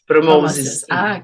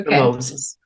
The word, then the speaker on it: PromoZiS: So how do you pronounce that? PromoZiS? PromoZiS. Okay. PromoZiS. Okay.